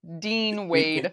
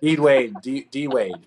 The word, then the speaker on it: Dean Wade: Dean Wade. D-Wade.